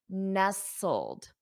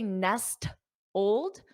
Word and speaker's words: nestled: listen to the pronunciation nestled notice there's a silent letter nestled you don't say Nest Old so nestled Ness old nestled nestled the t is silent so here are the